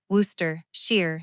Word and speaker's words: Worcestershire: On the front of the package with the Sharpie I had written one word, Worcestershire. I spelled it the way she had taught me, Wooster shear sauce, three lines, just the syllables.